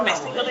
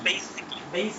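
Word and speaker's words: basically: বলি মূলত হচ্ছে বেসিক্যালি আমরা বেসিক্যালি না বলে এটাকে বলা বেসিকলি বেসিকলি তার মানে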